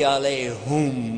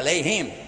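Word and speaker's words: عليهم: Ghayrul maghdubi alayhum wala dhalin. Whoops. Ooh, yeah, alayhim. Huh? Actually, it's both because there is another pronunciation, but the common one.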